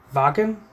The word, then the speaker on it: Wacken: just kidding from the Wacken oh it's Bakken well I'm pronouncing it wack and you can't stop me from the Wacken show